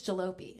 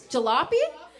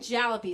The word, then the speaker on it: Jalopy: so much i realize i have been saying y'all's name wrong the whole time it's jalopy isn't it it's jalopy i've been saying jallopy so i've been way off but as soon as